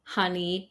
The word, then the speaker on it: honey: For example, words like come, done, some, money, honey, mother, brother, oven, these are all pronounced with the sound A, not the O that you see in the writing.